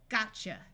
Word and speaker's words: gotcha: which means going to this T will be silent because TCH together says CH gotcha gotcha means got you